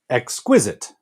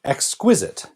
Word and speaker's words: exquisite: Exquisite. You have to make that little jump between pronouncing the X and then the Q. Exquisite. Kind of break it up like that.